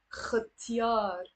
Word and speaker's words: ختيار: Pronounce it as a ختيار, ختيار.